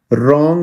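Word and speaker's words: wrong: रॉन्ग में W silent है।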